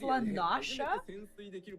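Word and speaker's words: La Noscea: Did you know that it's pronounced Lanasha?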